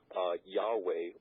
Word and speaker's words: Yahweh: Well, in the original Greek, it's shown that many scholars have revealed that his name was pronounced Yahweh or Yehovah.